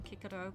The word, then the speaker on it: Cicero: you know like Cicero, I call him Kiko because apparently they didn't have a soft C if you learn Latin.